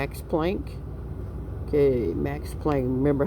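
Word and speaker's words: Planck: It's plank. Okay. Max plank. Remember how to spell it?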